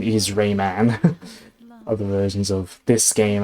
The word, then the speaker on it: Rayman: The official pronunciation is Rayman. Other versions of this game and other other Rayman games. There's that. But yeah, for whatever reason in this game, Lee pronounces as Raymon like policeman or firemen.